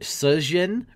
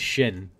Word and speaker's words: Sjin: Is it Sjin or is it Shin? It's like you got to say it like a snake, like Sjin. It's like a snake having gin.